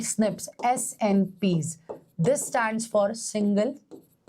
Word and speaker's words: SNP: change of the single nucleotide so it is pronounced as snips right snips snps this stands for single nucleotide polymorphism remember